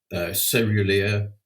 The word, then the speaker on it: caerulea: You can also pronounce it cerulea, cerulea, and all the pronunciations are correct. It's whatever you want to do is fine.